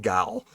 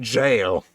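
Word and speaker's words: gaol: got makeshift g j makes I keep saying gal but it's supposed to be apparently pronounced Jail uh key to the jail of relatively crude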